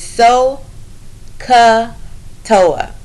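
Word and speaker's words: SOHCAHTOA: Is the way you pronounce it is so ka toa.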